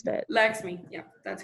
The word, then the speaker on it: Lakshmi: I don't know how to pronounce that. Lakshmi, yeah, that's correct.